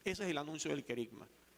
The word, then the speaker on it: querigma: al principio con el querigma. Como les dije, esta palabra es importante que la dominen bien. Querigma se escribe con K y con g medio, G de gato, porque es una palabra griega.